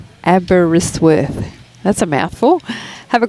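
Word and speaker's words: Aberystwyth: FYI, Abbottzsworth is pronounced Abberisworth.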